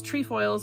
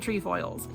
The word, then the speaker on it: Trefoils: to pronounce it um there seems to be some debate out there whether it is tree foils or trefoils but a video that the Girl Scout like people made they are pronouncing it tree foils uh I will actually